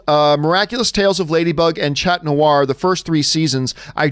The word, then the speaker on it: Chat Noir: oh oh okay sorry by the way the H in Chat Noir is silent so it's okay so it's cat noir just so you know